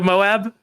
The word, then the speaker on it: Moab: Did anybody see Whistling Diesel's recent video of him going to Moab with the fucking?